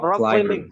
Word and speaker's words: climbing: It's not B. B-nya tuh silent.